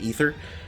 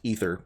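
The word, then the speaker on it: Aether: be spelled different it's it's an old Latin way of spelling it but it suffice it to say that it is pronounced ether I believe just like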